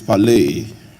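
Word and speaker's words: πάλη: The pronunciation of that word is pale.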